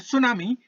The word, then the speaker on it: tsunami: यूकी एक लड़के का नाम है, और सुनामी के बारे में जानते हैं। और यहाँ पे इसकी स्पेलिंग आप लोग याद रखेंगे, TSUNAMI, SUNAMI नहीं, TSUNAMI, सुनामी।